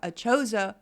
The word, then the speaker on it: ACHOSA: And today we have some wonderful people with us, Marti Brown and Lori Saylor with us from ACHOSA Warranty.